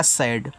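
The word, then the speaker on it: sad: एस से छोटा सा जब दो कंसोनेंट्स के बीच में ए हो तो ए का उच्चारण हम करते हैं ऐ की मात्रा के रूप में। तो यहां आपकी ऐ की मात्रा से और डी से आपका ड सैड और सैड का मतलब होता है आपका दुखी।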